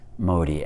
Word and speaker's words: Modi: for their prime minister i pronounce his name modi m-o-d-i pray that god speaks